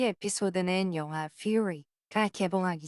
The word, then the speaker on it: Fury: anyway, tell us about this movie Furry. It's fury. Fury. It's not furry. No. 이 에피소드는 영화 Fury가 개봉하기 전 홍보차 나온 건데요.